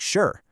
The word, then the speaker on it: sure: Sure just sounds like sure, one smooth syllable.